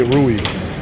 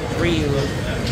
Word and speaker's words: Riu: I always say Rui. Riu.